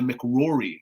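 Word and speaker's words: MacRory: mcdonald's the mcdougals and the mcrory yes that is absolutely how you pronounce that is rory as well mcrory so in about 1330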